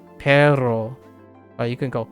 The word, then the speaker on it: perro: You can roll your R's very long, like perro. You can go perro, right? Perro. You can roll and hold the R.